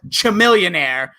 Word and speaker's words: Chamillionaire: I go with Chamillionaire. Chamillionaire. A millionaire. Oh my God. Chamillionaire. It's C-H-A. Can't even pronounce the name.